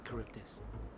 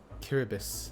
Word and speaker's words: Charybdis: I'm given to understand you have the power to help the Charybdis, and should be quite willing to do so. Kiribis, that's what it's called. Or that's how you say it.